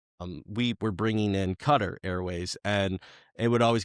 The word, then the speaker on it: Qatar: You know, it's when I I worked in Pittsburgh for a while and um we were bringing in Cutter Airways and it would always go back and